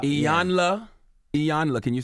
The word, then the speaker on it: Iyanla: Iyanla Vanzant.